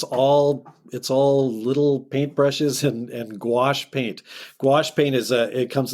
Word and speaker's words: gouache: I tell kids you can remember it because it rhymes with the word squash. Perfect. But gouache is, and the nice